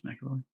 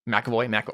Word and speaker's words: McAvoy: You're muted, so I don't hear the what how do you pronounce it, Josh? I believe it's McAvoy. McAvoy.